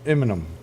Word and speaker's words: Eminem: It looks like enema when you see it. Let me warn y'all when it's spelled out. You gotta say it a little faster instead of M&M. Yeah, it's enema. It's Eminem.